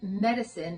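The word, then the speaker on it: MetaCine: Diamond Medicine. It's spelled M T A C I N E. So like meta.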